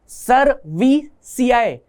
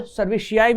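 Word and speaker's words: cerevisiae: मैं इसको सैकारोमाइसिस या सैकारोमाइसिस से याद रखता हूं, क्योंकि सैक SACCH, सैक वहां पे खत्म, एरोमाइसिस AROMYCES, सर्वीसियाई, मैं इसको सर्विशियाई भी बोल सकता हूं, ठीक है, शियाई बहुत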